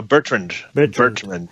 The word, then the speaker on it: Bertrand: No, Bertrand. I always read it. I never pronounced it.